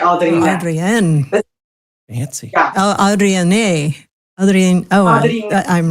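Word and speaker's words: Adriné: It's a D R. Yeah. A D R I N E. And then there's like an accent on the E. So it's like Adrienne.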